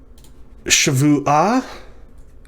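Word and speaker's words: שבועה: The shava at the beginning of a word is vocal. So the first syllable is sh. Vu is the second syllable. Ah. Shavu, sh, vu, ah.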